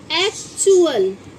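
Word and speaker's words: actual: एक्चुअल।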